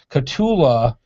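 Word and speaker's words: Kahtoola: this is and i'm going to try to pronounce this it's k-a-h-t-o-o-l-a katula micro spikes traction system now it depends on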